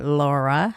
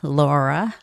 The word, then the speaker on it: Laura: Laura, L and R sound. I know us Koreans and Japanese, we all have some difficulty making different sounds between L and R. Laura. Laura. Laura.